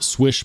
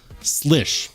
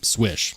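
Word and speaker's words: Słysz: SZ is commonly pronounced slish or S but according to Spyderco who worked directly with marching swish they say pronounce it swish like you don't miss on the basketball court other knife that I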